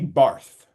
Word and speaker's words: Barth: Barth. Barth. The Germans pronounce it Bart.